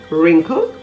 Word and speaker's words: wrinkle: at silence w words if the word starts with wr the w is usually silent as in rap w-r-a-p wrinkle w-r-i-n-k-l-e wrist w-r-i-s-t right